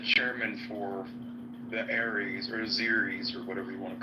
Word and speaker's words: Azeris: Azerbaijanis? Azeris.